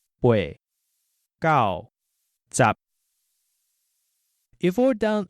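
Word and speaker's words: 八: After that, we learned that 7 is called chit, and 8 is bei. The number 9 is pronounced gao, as in gao jia gao, for 9 dogs.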